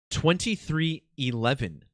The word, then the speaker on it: 23XI: Michael Jordan's racing team 2311 is how this team is pronounced 23xi XI in Roman numerals 11 and these are the